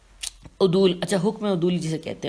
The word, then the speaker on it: عدول: میں ہجے کرتی ہوں، عین دال واو لام اور دال پہ واو پیش ہے۔ عدول، اچھا حکم عدول جسے